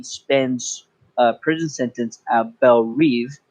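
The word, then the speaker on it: Belle Reve: a prison sentence at bel reeve she pronounces it i'll go with that bell reeve which is just like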